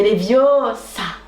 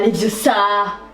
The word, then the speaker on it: Leviosa: C'est Leviosa, pas Leviosa. Bah vas-y toi, puisque t'es si intelligente.